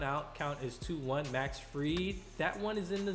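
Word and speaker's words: Fried: third we have max free i believe that's how you pronounce his last name i don't want to say fry but i think it's free and so he kind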